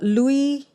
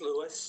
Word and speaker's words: Louis: hello hi hello hi is this lewis yeah this is lewis okay sorry i mispronounced your name the first time so lewis stay with